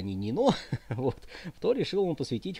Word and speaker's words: Нино: Грузии считается вот ну по-грузински это Нино не Нина а Нино Ну по-русски Нина Ну в сущности это в общем одно и тоже Но по-грузински более правильно нено вот это вот главные